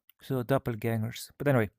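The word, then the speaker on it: doppelgänger: It's doppelgangers because in Swedish that's a ä. So doppelgangers, you know. Or as we say umlaut, that's when you put dots above letters. If you're going to write umlauts, pronounce the umlauts, you know.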